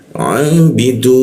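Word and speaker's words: عابدون: Nah, setelah du itu ada waw dan nun, vokal konsonan dimatikan. Seolah-olah muncul bendera, kita panjangkan di huruf da-nya itu 3 ketukan. Jadi cara membacanya abidun.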